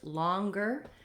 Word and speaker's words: longer: next pair of words longer and stronger these uh are misleading because they have the letter O but they have the vowel a so I do have rounding no o sound sound not longer also not longer I don't want to be too open and a likee now